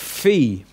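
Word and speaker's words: φῖ: alone then we've got fee as in phone a pH sound fee that's nice and easy that one then after it you've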